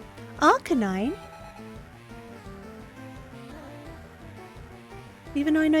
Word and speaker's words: Arcanine: is it okay no I see rk9 sounding Out the a but it's meant to be Arcanine right like a canine I say that that